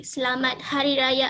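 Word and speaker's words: Selamat Hari Raya: peace of sacrifice and in malay we say slamat hariraya is i'm not sure if it's too hard for you guys to pronounce it but that's how we pronounce it in malaysia so um next slide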